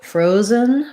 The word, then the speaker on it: frozen: the word frozen so frozen first syllable stress letter o does say the o diphthong i would try building it from row um and then add the f fro then my z e n frozens and i really basically have no vowel between my z and my n this is the syllabic n which means if there's any vowel it's going to be a little uh sound